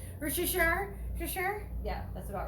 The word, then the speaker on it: Worcestershire: Worcestershire?